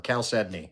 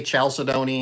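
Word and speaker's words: chalcedony: new too caly so there's another great term cal sedney cal sedney and it's yeah people will say chaldon and a few other things but it's pronounced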